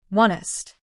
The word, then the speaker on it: honest: The word honest. The h is silent, right? Exactly. So, we pronounce it like "onest".